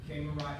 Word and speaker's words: Kamen Rider: The Kamen Rider, how do you say it again?